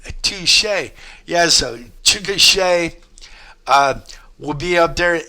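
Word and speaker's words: Chickasha: That t-shirt right back there will be up in uh Chukasha or No, it it's spelled Chugasha, but it's uh pronounced Chicochet. Touche. Yes. So, Chicochet uh will be up there at Twister Fest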